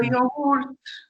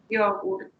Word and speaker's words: yogurt: Primero cargan la O. Yogurt. Y la Y la Y en italiano se pronuncia más parecido a la I. Entonces, la Y tiene una pronunciación muy de I. Entonces es yogurt. Más que, porque nosotros decimos yogur, no, este es yogurt. Y bien marcada la T, pues sí, estamos en Italia.